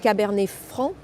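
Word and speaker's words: Cabernet Franc: the grape is referred to as tana and caber fr which of course you all know especially if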